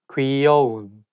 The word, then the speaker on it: 귀여운: 귀여운, cute. 귀여운, cute. It should be 귀, not 기. So 귀여운.